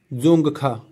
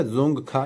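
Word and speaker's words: Dzongkha: यहां की लैंग्वेज है जोंग खा डी साइलेंट है तो यह हो गया जोंग खा यहां की लैंग्वेज है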